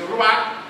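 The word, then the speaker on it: רוח: Esse ruach termina com role, que é um H mudo do hebraico, e representa o quê?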